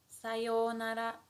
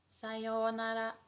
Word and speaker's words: sayonara: And how we pronounce it is sayonara, sayonara, sayonara.